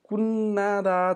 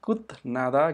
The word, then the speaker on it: 끝내다: जस्तो कुन्नादा छ, यहाँ यसको उच्चारण कुन्नादा गर्नुपर्छ है, कुत्नादा गर्ने होइन, र त्यसै गरी यसको उच्चारण पनि कुन्नेदा गर्नुपर्छ, कुत्नेदा गर्ने होइन।